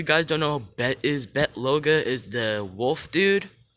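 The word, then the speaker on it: Bete Loga: don't know bet is bet loga is the wolf dude that's how you pronounce his name bet even though it's b-e-t-e is bet all right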